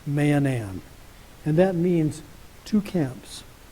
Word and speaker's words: Mahanaim: going to talk about is the principle of manam now that's the proper name of a place that's spelled ma a h a n a i m Manan and that means two camps or more literally